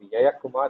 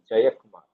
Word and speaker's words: Jayakumar: For example, when I was there in Germany, they used to call me Yayakumar. So I used to tell them my name is not Yayakumar, it has to be pronounced as Jayakumar. Okay.